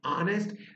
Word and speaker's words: honest: sound starts with, whereas the sound of H is silent in hour and honest.